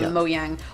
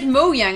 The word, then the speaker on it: Mojang: People were like, they said Mojang. I'm like, well, he's Swedish. Yes, it's the J is in a Y.